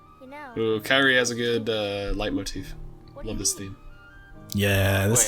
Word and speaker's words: leitmotif: Is that how that's pronounced? I thought it was I think Leet. so. I thought it was like Leet, like the planetologist from Dune. Yeah, not according to my sources, it's not.